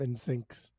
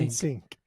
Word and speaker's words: NSYNC: much more on my my mispronunciation of ins syncs in sync in in sync in sync in sync there you go you got it you got it for